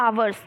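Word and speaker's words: hours: आप लगा सकते हो आपने देखा एच लिखा है बस आपने क्या लगा दिया ए लगा दिया ये गलत हो जाएगा आप बोले आप उसका उच्चारण करें ठीक है आप उसका प्रोनंसिएशन करें आप कैसे बोलते हो आवर्स तो आप क्या बोल रहे हो आवर आवर बोल रहे यानी कि आ आ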